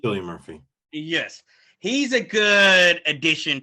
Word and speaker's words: Cillian Murphy: Cillian Murphy? Cillian Murphy.